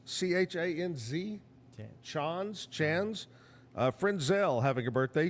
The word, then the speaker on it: Chanz: Here's, I think it's pronounced Chanz, C-H-A-N-Z.